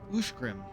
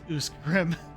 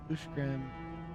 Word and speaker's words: Uskgrim: Uskgrim is Ushgrim. Not Uskgrim, like I just said. Okay. Ushgrim. Is that Ingmar?